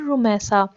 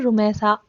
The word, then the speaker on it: Rumaisa: जैसा कि बहुत ज़्यादा आजकल रखा जाने वाला नेम है रुमैसा। पहले इसको पढ़ा जाता था रमीसा, जो कि एक गलत प्रोनाउंस है। इसका असल नाम होता है रुमैसा, RUMAISA, रुमैसा।